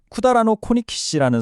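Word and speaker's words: 百済王: 그리고 일본 조정은 선광왕자의 후손들에게 백제왕 일본어 발음으로는 쿠다라노 코니키시라는 성실을 공식적으로 부여합니다.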